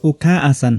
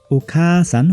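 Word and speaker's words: おかあさん: यसको उच्चारण ओखा आसान होइन कि ओखासान हुन्छ। यसलाई पुरै आ उच्चारण नगरिकन खाकै लामो स्वरको रूपमा उच्चारण हुन्छ।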